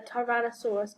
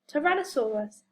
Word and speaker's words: Tyrannosaurus: Can you think why the Tyrannosaurus got its name? How do you say it? Tyrannosaurus.